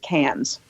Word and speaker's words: Cairns: And we got through customs, and then we flew up to Cairns, which is actually looks like Cairns, but Australians pronounce it Cairns.